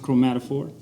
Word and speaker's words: Chromatophore: So it's pronounced Chromatophore, and I stumbled upon it probably maybe 2-3 years ago.